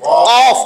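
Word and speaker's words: ق: থেকে এইটা দুই ফোঁটা কফ অফ কফ এটা উচ্চারণ হবে একেবারে জিহ্বার গোড়া থেকে কফ এরকম এটা হয় কি হয়ে গেছে না কলামটা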